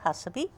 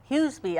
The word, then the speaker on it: Huseby: Well, first we'll start out with Hussaby. Huseby, I'm sorry.